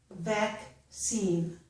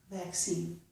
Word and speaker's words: vaccine: But the first C makes the K sound. Again, accent, accent, succeed, succeed, vaccine, vaccine. So the second S, the second C, is making the S sound.